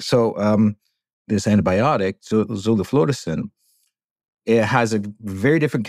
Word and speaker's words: zoliflodacin: Can you tell me about zoliflodacin?